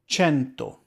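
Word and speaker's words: cento: go means drops but the key Point here is that again the c e next to each other make a CH sound and because there are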